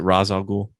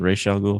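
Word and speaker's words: Ra's al Ghul: arrow tv show uh they pronounce it raz algul rather than racial ghoul so it's like nobody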